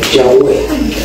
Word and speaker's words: Yahweh: Y entonces algunas personas le llaman Yahvé y otras personas le llaman Yahweh.